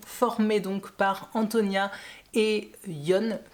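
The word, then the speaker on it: Jon: donc par Antonia et Yon, que j'avais l'habitude d'appeler John parce que ça s'écrit J-O-N, mais si on le prononce correctement à l'espagnol, c'est donc Yon.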